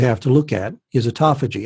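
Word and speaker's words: autophagy: to look at is a toughie G and that's a uto pH AG why I think we're pronouncing that right and we are burning we are pronouncing it correct yes some people say Otto Fei Jie Otto foggy but it's a commodity it's a toffee gene yes it took me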